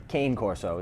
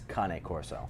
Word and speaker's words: Cane Corso: a kanay core so it's not cane corso it's Connie Corso Connick horse so every